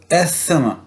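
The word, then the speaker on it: asthma: अब यहाँ पे आप देखिएगा इसे कैसे प्रोनाउंस करना है। ये है एस्थमा, एस्थमा नहीं है, एस्थमा, एस्थमा। वो जो से और सीन की आवाज़ है वो आपस में मर्ज हो जाती हैं और वो एस्थमा प्रोनाउंस उसे करते हैं, एस्थमा नहीं।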